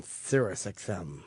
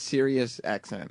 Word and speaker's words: Sirius XM: the o yeah chiper radio um here on sirusxm it's Sirius XM yeah yeah is it going to be like